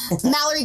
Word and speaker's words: Malerie: But it's not like your name is something hard to pronounce. It's Mallory.